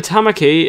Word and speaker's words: Tamaki: magic roundabout snail would it rhymes with trying bummer key and yeah so seems like brian tamaki is probably vaccinated you